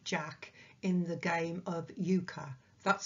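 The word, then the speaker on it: euchre: as an unsuited Jack in the game of Yuka that's spelled e-u-c-h-r so from a card game of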